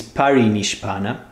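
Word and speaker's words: परिनिष्पन्न: necessity was immersed in paranishbana this term the right spelling and pronunciation is parinish panna as you see they are on the screen but blaboski used paranishbana so she says that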